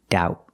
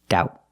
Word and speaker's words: doubt: with the word doubt the B is silent there's no B sound it's doubt and the T in doubt is going to be pronounced with a stop T doubt put the tongue up